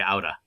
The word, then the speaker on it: Aura: mispronounce her name because it's spelled Aura, but when you say it, it's actually Auda. The R's rolled so hard it almost sounds like a D.